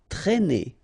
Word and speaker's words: traîner: Traîner, okay, accent circumflex here, so you should write it, but then keep in mind that you don't pronounce it, so it doesn't change the pronunciation of this combination of two letters, A and E together, it's E, okay, traîner, traîner.